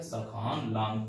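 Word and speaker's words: Sakhan Tlang: Last वाली श्रेणी का नाम क्या है, सखान लॉन्ग, टी साइलेंट है इसमें।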